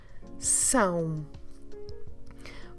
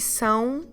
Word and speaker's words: são: Vocês são. Vocês são. You see, são, it's a very nasal sound.